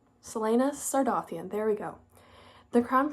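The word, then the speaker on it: Celaena Sardothien: pronounce I'm going to try and use the pronunciation guide Selena sardan Selena sardian there we go the crown pce will provoke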